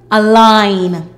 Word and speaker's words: align: A l ein align.